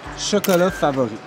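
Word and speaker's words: Chocolats Favoris: Chocolat favori.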